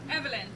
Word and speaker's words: Evelyn: name I don't want to mess it up Evelyn Evelyn oh well that's easy okay very good